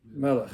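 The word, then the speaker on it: מלך: Melech, yeah.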